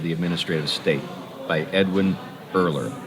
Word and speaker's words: Erler: administrative state by edwin erler earlier is spelled e-r-l-e-r that with earlier and it's by rowan